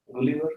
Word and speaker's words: Gulliver: Gulliver, how do you pronounce it?